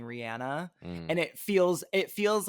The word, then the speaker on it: Rihanna: Rihanna. That's how she pronounces her name. I know. Rihanna. It's always so weird though, because I'm so used to everyone saying Rihanna, and I know it's wrong.